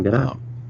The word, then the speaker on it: Gadot: Apparently the T is pronounced. It's Gal Gadot.